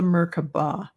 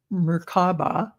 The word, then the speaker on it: Merkaba: This is a Merkaba or Merkaba. Some people pronounce it. I call it Merkaba.